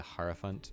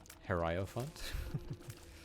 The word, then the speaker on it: hierophant: meant to like the hierophant until i the guy say it herrio font i sort of like change how i pronounce it like hero font hierophant whatever gets into